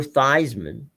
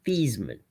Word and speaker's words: Theismann: Notre Dame, told him, "We're changing your name to the pronunciation of your name to Theismann, so I can put you on the cover of our, press guide as Theismann for the Heisman."